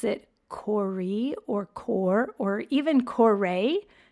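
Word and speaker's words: Kore: referred to as Corey how I would say it Corey k o r e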